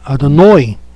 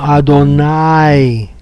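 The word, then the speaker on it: אֲדֹנָי: nombre del eterno y se pronuncia nosotros no dicim los sefarditas no lo dicen adono sino adonay con una a de acuerdo a la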